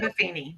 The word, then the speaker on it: Buffini: So one of the things I want to touch base on is that you keep mentioning Buffini. Is that how you say his name? Brian Buffini.